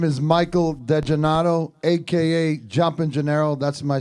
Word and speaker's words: DeGennaro: DeGennaro. De Gennaro. Yes, sir. So De Gennaro, not Di Gennaro. DeGennaro. Yeah, DeGennaro. DeGennaro. D-E. Saying it right. So like San Gennaro, DeGennaro.